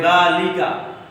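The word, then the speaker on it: ذٰلِكَ: यहाँ पे लिखा है ज़ालिका, अरबी में लिखा हुआ है ये, सामने इसके प्रोनाउंस है, सामने इसका प्रोनाउंस इंग्लिश में लिखा हुआ है ज़ालिका, ज़ालिका।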